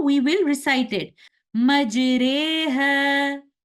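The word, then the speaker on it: مَجْرٰىهَا: Majreha. We will pronounce the alif between the sound of an alif and ya, and we will pronounce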